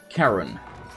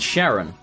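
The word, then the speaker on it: Charon: the squire chestplate fantastic it should be pronounced like Karen really I've always have said Sharon I'll take your word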